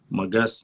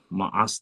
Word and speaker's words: Маас: Магас неправильно. Маас там, в арабской хронике Маас, Маас, через А пишется.